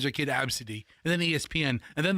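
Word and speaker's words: Abcde: Number one is absid. And it is spelled A B C D E. And it's pronounced absid.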